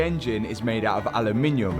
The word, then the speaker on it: aluminum: Aluminum. Aluminum is correct. British people put an extra L in there.